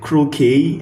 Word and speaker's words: croquet: We know when in most French word French words that ending that sounds A towards the end, they have the letter T, but they are silent. Words like sachet, words like croquet, and then like good example is croquet, C R O Q U E T.